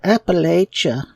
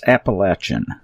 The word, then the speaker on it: Appalachia: to get involved with the Appalachia and we despise that word that that pronunciation. It is so incorrect and it's so pretentious. It's Appalachin.